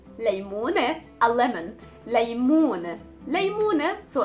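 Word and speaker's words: ليمونة: Again, it has the noon and then the T marboota, so the pronunciation of the T was e, janne. Next we have leymune, leymune, a lemon.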